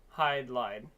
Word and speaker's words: Hydlide: so let's start um hide lied I used to pronounce it hid Li all right so this